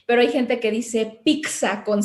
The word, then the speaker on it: pizza: Se me ocurre ahorita en la palabra en italiano de pizza, ¿no? O sea, la doble Z pues tiene esa característica como de ser una DZ en realidad, pero hay gente que dice pizza con C, ¿no?